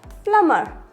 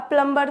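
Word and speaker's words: plumber: होगा next word थम क्या होगा थम नेक्स्ट प्लमर प्लमर प्लर में भी साइलेंट होगा प्लर अब प्लंबर तो नहीं प्लंबर को बुला लो बहुत सारे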